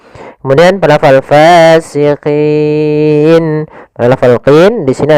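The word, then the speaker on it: فاسقين: Jangan pasikin dengan p gitu ya. Banyak yang mungkin ada yang membacanya dengan pa gitu ya, dengan p ya harusnya tidak dibaca dengan p. Kemudian pada lafal fasiqin.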